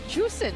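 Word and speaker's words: Zhuxin: And I was like, "Is it juicing?" He's like, "Dude, nicer. We're just going to call it juicing." Yeah. So, basically, Miracle explained that Zhu is like completely different there. You're right, though. Yeah. It's juicing, right? Yeah. It's very That's the very formal way to say it.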